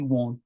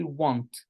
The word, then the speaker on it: won't: Don't say want, okay? If you say want, you will pronounce it as want, as this want, yani arada, you read. It has to be won't with an O.